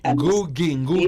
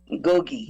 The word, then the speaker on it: Ngugi: Lynn Ngugi. Ngugi. Yes. You gotta get that pronunciation. Ngugi. Gogi.